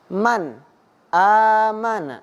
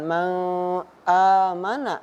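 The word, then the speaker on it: مَنْ آمَنَ: nun bertemu dengan Hamzah maka dibacanya tidak dengung ataupun tidak dipanjangkan akan tetapi membacanya di jelaskan contohnya Man aamana bukan mau amanah ataupun men Ami tidak Nah maka dari itu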